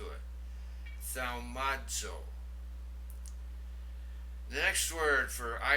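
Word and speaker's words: θαυμάζω: Thaumazo. Now notice the zeta there. It has the DZ sound to it. Thaumazo.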